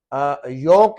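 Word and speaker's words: yolk: और यहाँ पे आप देखेंगे, यहाँ पे जो बोर्ड पे लिखने वाला जो चौक होता है, चौक में एल साइलेंट है। योक है यहाँ पे, एक होता है यॉक, एक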